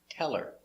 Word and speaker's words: tell her: Pronunciation, tell her, tell her. We link the words, tell her, and the accent is on tell, not her, so the H is silent. Tell her.